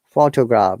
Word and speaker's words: photograph: And there are a few examples like mistakes, photograph, but photographic. It's a photography. Photographic. You see, the stresses are in different syllables.